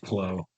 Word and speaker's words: Claude: Claude Way with a nice beard. pronounced Clo.